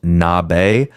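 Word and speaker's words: 鍋: Today, nabe, pronounced nabe, is Japan's defining winter meal.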